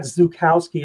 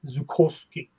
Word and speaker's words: Zukowski: So it's not Zukowski, it's Zukowski. And I like that, Zukowski, because it sounds, you know, sounds tougher. Zukowski. Intimidating. It sounds intimidating. Yeah, we have Zukowski.